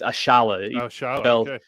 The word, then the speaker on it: Ayala: this lineup and David ashala that's how you pronounce it apparently it's ashala Ayala um like he's a he's a highly